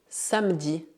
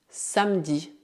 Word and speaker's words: samedi: Por otro lado, E colocado na segunda sílaba de uma palavra ou no final de uma palavra geralmente é mudo. Por exemplo, samedi, samedi, une piscine, une piscine, une banque, une banque.